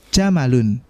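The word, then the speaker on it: جمل: Ustadz, di pertemuan sebelumnya kita sudah ketemu dengan jamalun Ustadz. Nah, itu beda lagi ya. Itu bacanya jamalun. Pendek semua.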